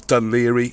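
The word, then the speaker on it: Dún Laoghaire: the spelling you got done hockery which is done Leary and I think although it's spelled Elba it's actually almost Elvis if you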